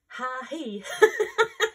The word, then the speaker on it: HAHI: So these are from a store called HAHI. Sounds like me laughing.